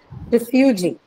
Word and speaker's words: refugee: Refugee. Refugee. It's a noun. Syllable. So the suffix is e, so that should be stressed.